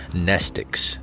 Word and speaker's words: mnestics: be impossible to remember nestics class w x y and z same greek root as the word mnemonic the m is silent in her bag her